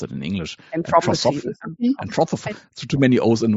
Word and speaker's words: Anthroposophy: It says here the Austrian theosophist and later founder of how do you pronounce it in English? Anthroposophy.